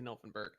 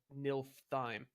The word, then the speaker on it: Nilfheim: No, I'm trying to say the right word, and I keep saying it wrong, but I'm not trying to say Nilfenberg. I'm trying to say Nilfheim.